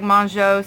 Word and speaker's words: Mongeau: I've heard her name pronounced so many different ways. It's French. It looks like Mongeau, so that's what I've always said.